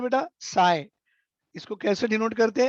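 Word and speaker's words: psi: साई। इसको कैसे डिनोट करते हैं? पी एस आई, साई represent, और यू can pronounce as ए साई।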